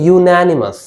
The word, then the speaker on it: unanimous: টার্মটা হচ্ছে ইউনানিমাস, ইউনানিমাস, এই যে Yuta Y ও you pronunciation, ইউনানিমাস।